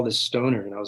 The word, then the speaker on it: Stöner: Well, actually, if it's got umlouts, it should technically be pronounced stoner. Stoner. Yes. An elongated vowel, I believe.